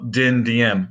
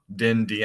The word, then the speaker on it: Dinh Diem: to his people look Dinh Diem no dendi and make sure you know how to pronounce it as well and then